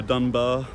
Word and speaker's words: Duna: This is the river Dunar uh or Denube, depends on your pronunciation.